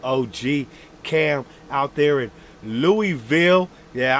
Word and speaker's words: Louisville: Yeah, I learned how to say it way back in the day when I was talking about Hobie, man. You know, we come with this Lewisville. No, none of that bullshit.